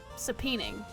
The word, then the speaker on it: subpoena: saon subpoena saping saping sap h s subpoena okay so I was saying it right seening